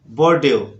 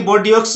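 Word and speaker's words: Bordeaux: जैसे इसको फॉक्स नहीं बोलना है, इसको फॉ, बोर्डियो, बोर्डियो, बोर्डियो, ऐसा नहीं कि बोर्डियोक्स नहीं बोलना है आपको, एक्स साइलेंट है सब में, याद रखना आप। तो इसको बोलना है आपको बोर्डियो, बोर्डियो।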